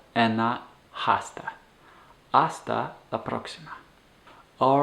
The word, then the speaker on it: hasta: of like an ola making sure that that h and hasta is silent so it's hasta and hasta hasta all right well